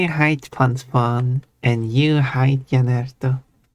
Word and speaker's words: Jannertto: For some reason I pronounce it with Jannertto, which is wrong. But Jannertto. There we go. It's not wrong. It's an alternative Fair. pronunciation. It's just fair then. There's the right way and then there's the English way.